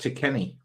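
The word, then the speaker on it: Tekeny: that leg it teeky Gore appears in it's pronounced to Kenny to Kenny thank you to Kenny yeah that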